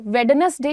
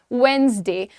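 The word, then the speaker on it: Wednesday: वेडनेसडे किसी भी भाषा में नहीं कहते हैं, द प्रोनाउंसिएशन इज वेडनेसडे।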